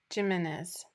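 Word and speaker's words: Jiménez: So, Jimenez. J pronounced as an H.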